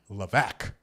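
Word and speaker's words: Levesque: Shockers of the book okay her name is pronounced Joanna LC no it's not it is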